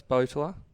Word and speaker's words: Boteler: But yeah, no, it's Boteler. That's how you pronounce it.